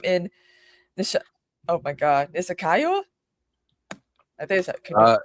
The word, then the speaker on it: Niskayuna: So that spring, Anne and the others rejoin William in the oh my God, Nisakayo? I think is that how you pronounce it? Nick wow. Niskayuna.